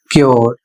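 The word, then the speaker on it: cure: इसमें नियम है कि जब किसी शब्द में यू के बाद आर ई आता है तो वहां पर यू का जो उच्चारण है वह यो हो जाता है।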